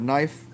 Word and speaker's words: knife: So it's in the word, for instance, in the word knife. Where's the K? It's reflective. You didn't hear it. It wasn't there. Might as well spell it N-I-F-E.